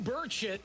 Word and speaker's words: Burchett: Well, I went with the soft C. Charlie. Like Charlie, your name's not Carly.